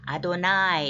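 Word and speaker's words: אדני: 뒤에 오는 단어는 우리가 너무나 잘 아는 단어 여호바인데 우리가 그렇게 안 읽고 아도나이 이렇게 너무나 신성한 단어라서 스펠링대로 읽지 않고 그렇게 읽는다고 그랬죠.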